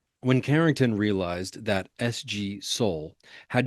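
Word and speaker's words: Soal: Soul, S O A L is how you uh pronounce or spell that person's last name, went through his results once again, and it was then that he noticed that Mr.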